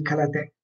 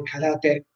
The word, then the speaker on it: karate: fasulle, la R moscia, ma in giapponese la R si pronuncia come una L morbida, non è ka, la, te, ma kala, te, kala, kala, la, ok, morbida.